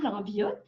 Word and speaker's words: Lambiotte: chien d'assistance aux personnes handicapées bonjour Monsieur William lanviotte merci beaucoup d'avoir accepté de nous accorder une entrevue est-ce que j'ai bien prononcé votre nom de famille absolument absolument merci